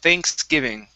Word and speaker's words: Thanksgiving: Okay, give me a good TH sound. Instead of Thanksgiving, it's thanks, Thanksgiving. Thanksgiving.